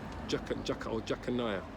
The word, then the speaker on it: Jeconiah: Jeconiah, his name is pronounced.